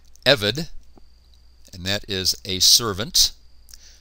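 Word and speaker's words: עבד: be a priest took evid notice the accent on the first syllable evid and that is a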